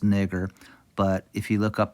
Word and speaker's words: Niger: It's pronounced nigger.